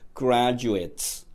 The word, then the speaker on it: graduate: high school graduates. 제가 발음을 graduate 하지 않고 graduates라고 발음했습니다. ate로 끝나는 단어는 eight로 발음이 났을 때는 동사가 되고요. it로 발음이 나면은 동사가 아닌 명사나 형용사 혹은 부사가 되어버립니다.